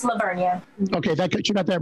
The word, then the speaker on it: La Vernia: What happens when they mispronounce? Is the town La Vernia? Kristen, did you get it right or wrong? It's La Vernia.